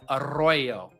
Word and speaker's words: Arroyo: Our tight ends, George Kittle, Will Dissly, and Elijah Arroyo. Be sure to roll your R's there for the audio listeners.